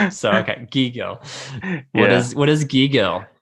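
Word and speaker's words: gigil: the second part again i'm gonna say gill close it's giggle okay so now it's on the first so okay gigo what is what is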